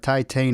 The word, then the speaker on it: Titane: been much competition but titane is one of the best movies in years the correct pronunciation for it Titan pretty straightforward once you know I